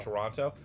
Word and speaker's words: Toronto: I've heard that like that it's kind of more like it's real quick, not like Toronto. Like we say Oh. Toronto.